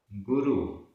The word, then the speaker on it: गुरु: देव, देव, गुरु, गुरु, यहां रा में छोटे उ की मात्रा है, गुरु, धम्म, धम्म, गुण, चारितम, ये पूरा एक समासित पद है।